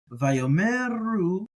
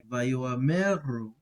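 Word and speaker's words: וַיֹּאמְרוּ: We can treat it as silent, or as most people do, or we can try to pronounce it, in which case it would be something like vayomeru versus vayomeru, where it's silent.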